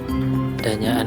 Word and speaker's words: Dayakan: Oh, embung Dayakan, Danyaan itu, embung Dayakan. Itu kalau bahasa Jawa itu ejaannya Danyakan, teman-teman. Kalau tulisannya itu Dayakan. Cuma ejaannya kalau bahasa Jawa itu mungkin Danyaan itu.